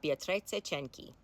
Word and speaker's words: Beatrice Cenci: Today, we're talking about Beatrice Cenci. And apologies in advance, that is the only time I will be pronouncing her name correctly.